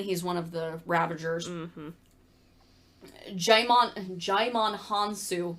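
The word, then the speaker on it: Djimon: one of the ravagers jaimon jaimon hansu so we said this wrong there is no d pronounceable in that no i know there's no d in there i told you as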